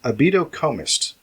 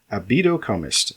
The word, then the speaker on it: abydocomist: It's got 5 syllables. Abydocomist. Abydocomist. That is spelled ABYDOCO and then MIST, like mist. So it's not a beetle. It's not a beetle coming like one of the 5 beetles maybe having an orgasm. One of the 5 beetles. No, in fact, it is not. And yes, the stress is on the 4th syllable.